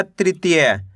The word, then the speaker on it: तृतीय: त में ऋ की मात्रा त्रि त में बड़ी ई की मात्रा ती य तो मिलकर बन जाएगा तृतीय।